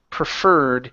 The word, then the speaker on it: preferred: Okay, ed ending instead of preferred. Okay, this e disappears. We do not pronounce it. So it is preferred.